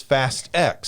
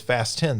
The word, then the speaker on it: Fast X: But it doesn't, when they pronounce it, it is Fast X. So like in all the marketing and everything, they did not pronounce it as Fast 10. They pronounced it as Fast X.